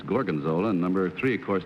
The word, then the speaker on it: gorgonzola: for number two but he mispronounced the name he said Morgan's old and it's gorgonzola and number three of